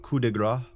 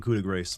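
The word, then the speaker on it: coup de grâce: Pronounced kudigra. I know, but I like saying kudig grace because it gets people to make that comment that you just made.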